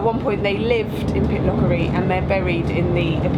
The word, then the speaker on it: Pitlochry: I really shouldn't be criticising people's pronunciation, should I? It is Pitlochry.